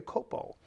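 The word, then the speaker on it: Culpo: became MissUSA Olivia Coplia right how do you pronounce it Copo I'm sorry Olivia Copo uh she this girl was crowned by her, as a matter of fact, last night.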